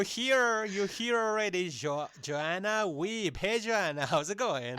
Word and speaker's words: Wiebe: it guys in the in the bumper is pronounced weeb. So I thought it was like vbe I thought it was like in German.